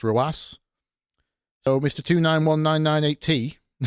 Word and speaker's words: RW9: Like, there's a Rocket League player called RW9, which is pronounced Roas.